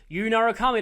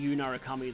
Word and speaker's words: Narukami: I like the way the announcers in the arena games say Narukami, though. Narukami. I think that's kind of how they say it.